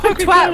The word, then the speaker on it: twat: Twat rhymes with hat.